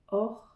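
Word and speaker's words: år: en bonus vous avez le mot année or c'est comme l'or de l'or or et si vous êtes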